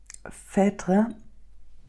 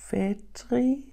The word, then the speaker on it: Phèdre: The protagonist, Phèdre, pronunciation is open. It's spelled P-H-E, and the E has something on top, like the French do. D-R-E. Phèdre.